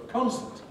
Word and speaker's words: concert: Compare that with going to a concert. Concert, where concert has an ordinary schwa in the second syllable.